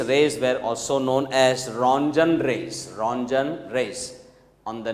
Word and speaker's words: Röntgen: Röntgen in the year 1895. T is silent, so we should pronounce Mr. Röntgen, who had discovered X-rays in the year 1895.